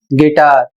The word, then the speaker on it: guitar: अगला शब्द है जी यू आई टी ए आर और इसे पढ़ा जाएगा गिटार।